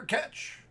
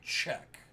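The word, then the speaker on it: Čech: From Arsenal, Peter Ketch. No idea if I pronounced it right. Probably didn't. It's probably Czech. Peter Czech. If I had to do a redo, that is the pronunciation I would go with.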